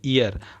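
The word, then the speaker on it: heir: The stunted unlucky ईयर, अब इसको एच को हम साइलेंट करेंगे, ईयर पढ़ेंगे।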